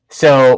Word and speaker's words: Seuss: an interview he said it wasn't pronounced Seuss it was like so but I don't know